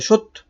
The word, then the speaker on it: সত্য: তালবস হলো প্রথমত আর দন্তস এর সাথে যে অটা রয়েছে সেই অটা ও হিসেবে উচ্চারিত হলো আশা করি বুঝতে পারছো তাহলে কি হলো সত্য তাহলে কি হলো সত্য